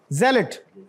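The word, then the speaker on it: zealot: य क्या है जी जलेट दिस इ नॉट जल बट जलेट और जलेट का मतलब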